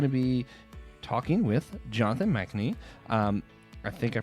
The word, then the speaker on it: Machnee: Today we're going to be talking with Jonathan Machnee. I think I pronounced that correct.